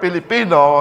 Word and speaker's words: Pilipino: 5k na mga Pilipino Do you know that the word Pilipino has three syllables Pilipino ano yung tatlong